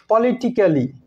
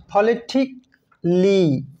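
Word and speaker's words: politically: এই ওয়ার্ডটিকে আমরা বলি পলিটিক্যালি নট পলিটিক্যালি পলিটিকলি অনুরূপভাবে লজিকলি রোমান্টিকলি মিউজিক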